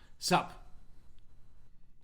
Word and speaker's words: SupChina: editor in chief of sup china subur soup sup okay sup yeah sup china new york based